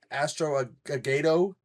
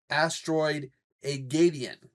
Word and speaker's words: Asteroid-A-Geddon: First off, before I get into the review, I kept saying the name wrong. Kept saying it Astro-Agado. When I made this little thing, I left at the end. It's supposed to be Asteroid-A-Geddon, like Armageddon, Asteroid-A-Geddon.